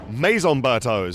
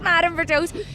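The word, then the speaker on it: Maison Bertaux: Is that how you you would pronounce that? Maison Bertos. Maison Berto. So close. I always called it Madam Berto.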